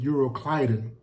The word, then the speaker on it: Euroclydon: It was what the King James call this storm Euroclydon, or some pronounce it Euroclydon, but it was a